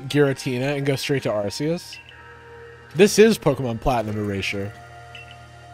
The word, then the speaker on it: Arceus: quite a state is it arceus or arceus well uh in japanese it's darcias and so i would say it's ours i would say it's arceus i they've they've like got an official pronunciation and i believe it's arceus relax i've gotta